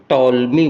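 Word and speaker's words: Ptolemy: यह शब्द इस शब्द में ध्यान रखिएगा पी को साइलेंट लिया गया है। तो ये शब्द वास्तव में इस चिन्हों के आधार पर बनेगा। टॉलस बनेगा। टॉलमी बनेगा।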